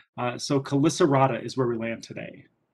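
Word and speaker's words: Chelicerata: invertebrates club typically though whenever we see that ch it usually is pronounced as a k sound so callisterata is where we land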